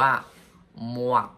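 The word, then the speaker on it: មាត់: ครับ ปาก ครับ ปาก ปาก ออก เสียง ว่า ม่วง อย่า มั่ว ผู้ หมวด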